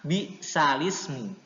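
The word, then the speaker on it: بئس الاسم: alifnya di kasroh ya, alifnya di kasroh, kemudian harokat kasroh yang ada di alif ini dipindahkan ke huruf lam yang mati, jadi bacanya bi'salismu ya.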